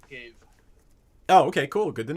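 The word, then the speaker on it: Ghave: Anyway, I'm gonna so Reddit says that it's pronounced Gave. Oh, okay, cool. Good to know. It's Gave.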